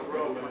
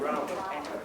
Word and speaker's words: Grauman: you call her Grauman, but I believe she pronounced it Grauman.